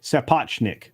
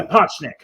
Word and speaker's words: Sapochnik: Oh, we have the actual pronunciation. Thank you, Logic's Finest. It's Sapochnik. Thank you. Sapochnik.